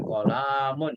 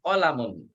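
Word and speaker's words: قلم: Nah, nggak ada yang panjang di sini ya. Qalamun. Jadi bukan qalamun, salah. Kita bacanya qalamun.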